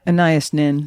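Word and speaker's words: Anaïs Nin: Now, I don't know how to pronounce that name properly. Do you? Oh, Anna Annias Nin.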